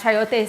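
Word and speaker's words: chayote: Um you can get a chiote squash. Um it's spelled ch h a y t o e.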